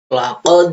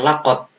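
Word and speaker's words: لَقَدْ: Kalau ada sukun ini bacanya memantul. Contohnya laqad ya, bukan lakot. Salah kalau lakot ya. Bacanya laqad.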